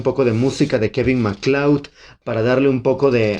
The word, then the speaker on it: MacLeod: Kevin MacLeod, or Kevin MacLeod. I think the pronunciation is MacLeod.